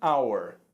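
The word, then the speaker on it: hour: é só que hum our and our uma hora é now uma hora no sentido de uma hora qualquer é nauer vejam a hor aqui não tem a pronúncia da letra h então começa com a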